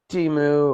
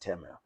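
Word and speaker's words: Temu: to the side and fishey it, it says Timu or AliExpress. And yes, I know it's supposed to be pronounced Teu, but yeah.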